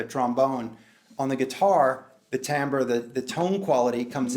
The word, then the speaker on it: timbre: the second one is what's commonly called Tambor TI mb ar e Tambor some people say timbre but I think it's pronounced Tambor become quote me on